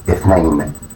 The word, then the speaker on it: اثنين: A transliteration اثنين اثنين اثنين.